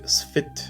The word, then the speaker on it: Spht: or the 4 faction, which is called a Spht compiler. Spht is spelled S-P-H-T.